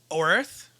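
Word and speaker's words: Oerth: uh gray hawk is set on the world of earth yeah i believe is how it's supposed to be pronounced uh it's got a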